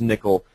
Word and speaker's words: N1QL: have a look at their n1ql pronounced nickel um and it's actually